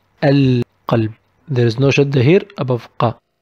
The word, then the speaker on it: القلب: Well, it is again one of the alphabets of ال القمرية, the lunar ال, and we pronounce it القلب. القلب.